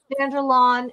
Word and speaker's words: Vanderlaan: Eric Vanderlon. How do you say your name so I say it right? You know you said it perfectly right.